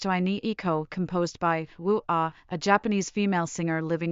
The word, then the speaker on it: UA: Starting July 21, 2023, the chime has been changed to Ai Iko, composed by Wu-Ah, a Japanese female singer living in Canada. It is written as Ua but pronounced as Wu-Ah.